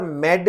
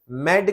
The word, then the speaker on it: MED: Multi exit discriminator, इसको अक्सर मेड भी प्रोनाउंस किया जाता है, मेड कह लें, MED कह लें, मल्टी एग्जिट डिस्क्रिमिनेटर कह लें, बात एक ही है।